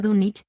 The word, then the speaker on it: Dunwich: Dunwich, que se pronuncia Dunwich, aún existe en East